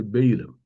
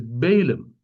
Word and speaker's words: Balaam: Yes, in English people say Balaam. They don't know the pronunciation. The Hebrew pronunciation is Bileam. The Malayalam pronunciation is also Bileam. The English pronunciation is Balaam.